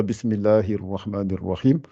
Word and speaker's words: بسم الله الرحمن الرحيم: Donc, ça fait Bismillahir Rahmanir Rahim. Essayez de prononcer ça en vous appliquant. Bismillahir Rahmanir Rahim. Voilà, c'est mieux, mais il faut se forcer à gonfler plus encore.